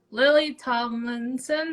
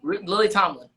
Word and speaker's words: Lily Tomlin: Lily Tomlinson, that's how you say her name. Lily Tomlin.